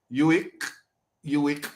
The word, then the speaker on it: UIC: Anyway, UIC rhyme with sick.